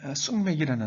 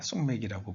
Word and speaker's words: 숙맥: 너희에게 이르지 아니하리라 하시니라 아 우리 말 중에 쑥맥이라 말이 있죠 사리 분별을 못하고 세상 물정을 잘 모르는 사람을 가리켜 우리가 아 숙맥이라고 부릅니다 사실은 쑥맥 아니라 쑥 맥이 쑥을 경음화